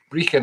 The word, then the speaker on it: Brechin: Anyway, Brechin, it's spelled Brechin, and my record company is a terrible pun based on that. It's called Brechin All Records, as in Breaking All Records.